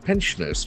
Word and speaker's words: pensioner: DADR, height for government employees and pensioners. PENSION, ER. So that is a very interesting noun. Pensioner. Pensioner. The accent for the first syllable, pensioner. Pensioner.